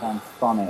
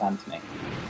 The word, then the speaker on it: Anthony: name as it happens although I don't pronounce it as an fonny I just pronounce it as Anthony that was right huh